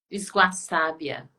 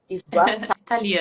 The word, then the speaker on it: Sguassabia: como é que eu pronuncio o seu segundo, seu primeiro sobrenome? Esguaçábia. Esguaçabia. Italiano. E de onde que Isso. é esse sobrenome? Italiano, Italiano. italiano. Esguaçábia.